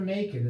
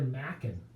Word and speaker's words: Machen: It's not Arthur Machen, as I mispronounced it in the past. It's Arthur Machen.